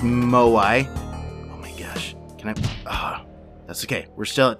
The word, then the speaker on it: moai: which I now know is pronounced moai that's okay we're still at two health still